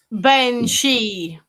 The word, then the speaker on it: banshee: I need my English correction, not just me Gaelic, but Banshee. Does it? Bean is ban. And Seth or Sithi is she.